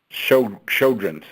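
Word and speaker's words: Sjögren's: do you pronounce that sojourn zoar how do you perhaps at Children's sale yes in them Sjogren's syndrome show children's okay got it yeah yeah and bottom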